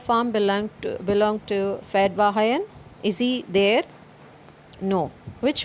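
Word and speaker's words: Fetvajian: farmer named fedva hayan so this is a armenian word it should be pronounced as fed bahayan okay fed by high end and hit him there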